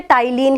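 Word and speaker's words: ptyalin: अब आप सोच रहे होंगे ये पी साइलेंट रहता है इसका, इसलिए इसे टाइलिन ही बोलते हैं, ध्यान रखना है।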